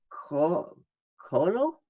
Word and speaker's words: Coelho: How do you say that? Oh, Coelho. Coelho. Coelho. That's how I would say Coelho. Coelho. Yes. Coelho. No. Coelho. That's it.